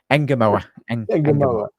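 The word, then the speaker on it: Ngumoha: Engamoa.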